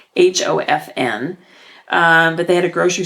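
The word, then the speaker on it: Höfn: And so I bought, we went actually to a grocery store at the town where we were staying, Haafell, which we are not pronouncing the correct way, Hofn.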